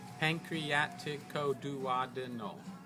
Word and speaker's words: pancreaticoduodenal: That's the anterior pancreaticoduodenal. Pancreaticoduodenal has 9 syllables. So if you want to learn to write it, you should remember something like that. Pancreaticoduodenal.